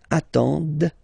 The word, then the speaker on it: attendent: And the last one, same thing, classic ending for il, elle at the plural form, ENT, but then you don't pronounce them. Ils attendent, d, okay, so remember you get to pronounce this, d, at the end, okay.